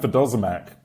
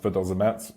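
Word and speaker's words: vodozemac: It's actually pronounced Vidozamac or something like that, and it links natively into Matrix Rust SDK in the near future.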